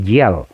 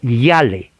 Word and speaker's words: Yale: Se escribe Yale, con Y-A-L. Pero recuerde, la A en inglés es A. La I no se pronuncia. Claro, en español usted va a leer Yale, pero no se pronuncia así.